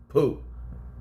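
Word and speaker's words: Pugh: Harry Styles and Florence poop no matter how many times I say her name I feel like I'm saying it wrong but that's how you that's how you pronounce it though first of all whatever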